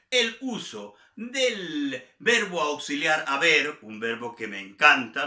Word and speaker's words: haber: En lo que se refiere a nuestro verbo auxiliar haber, se conjuga as, a, hemos, habéis, han. Con H, pero la H no se pronuncia. As, a, hemos, habéis, hay. Ese es el verbo haber en presente.